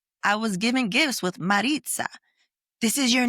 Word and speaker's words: Marisa: before we started recording you were saying my name Maritza and it's supposed to be Marita but you know I